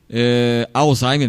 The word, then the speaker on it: Alzheimer: a doença de Alzheimer pronuncia-se Alzheimer mesmo né Alzheimer né É uma doença degenerativa